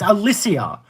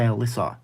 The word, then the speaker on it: Alicia: It's Alicia. That's not difficult to say. There was another person here before. I'm like, your name is literally said how it's spelled.